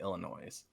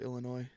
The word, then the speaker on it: Illinois: Who would have picked Loyola Chicago to be Illinois? I like how you pronounce the S at the end of Illinois.